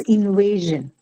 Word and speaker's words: invasion: syllable all right okay then comes Invasion Invasion second invasion second syllable uh why so invasion huh okay because of Shan correct so you have a Shan suffix and hence this has to be on the second one correct okay insect insect